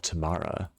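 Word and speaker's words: Tomahna: I did not explore all of Tamana.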